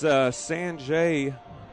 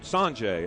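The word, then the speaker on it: Sauget: Once again, we're coming to you live from GCS Stadium, and it's Saunget, Missouri, and it's spelled Saunget, S-A-U-N-G-E-T, Saunget, Missouri.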